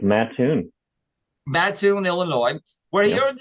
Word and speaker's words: Mattoon: It's Mattoon, right, Chad? Is that how you pronounce it? It's Mattoon.